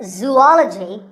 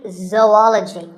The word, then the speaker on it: zoology: do you say it if you said zoology it's actually wrong that is a very common mispronunciation this is actually zoology zou and ology zoology number 42 is develop